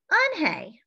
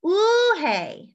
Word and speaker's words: Unhei: on hey corrected her it's spelled u-n-h-e-i it's pronounced on hey oh it's ooh hey the boy said like